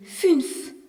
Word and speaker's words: fünf: Le nombre 5 se dit fünf. Avec un U, avec un tréma qui se prononce U et non plus OU.